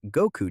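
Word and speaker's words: 五: In Japan, May 9th is officially recognized by the Japan Anniversary Association as Goku Day. May because in Japanese the number 5 is pronounced go, and the number 9 is pronounced ku.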